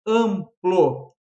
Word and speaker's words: amplo: Ela tem 5 letras, isso é muito fácil, mas o AM ali faz eu ter o quê? 4 fonemas.